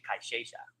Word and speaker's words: Cayeya: And if you go to Argentina, they say Cayeya. That's how they say it. That's because they roll the sh with the Y's. Oh. Where there's a Y, it's Cayeya. It's their accent.